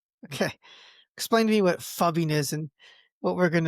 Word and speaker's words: phubbing: I don't even know if that's how you actually Is it pubbing? Fubbing? No, it's ph, so it' be f fubbing.